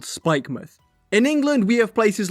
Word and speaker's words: Spikemuth: like how they spelled spikemuth in england we have places like this and while it's spelled mouth we say muth for example portsmouth or plymouth and i kind of